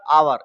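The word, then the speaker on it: hour: एच ओ ई आर आवर इसको हम क्या बोलते हैं आवर मींस होता है घंटा जिसमें हमारा क्या साइलेंट है एच साइलेंट है मैंने लिखा है ब्राइट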